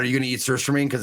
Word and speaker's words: surströmming: Surströmming.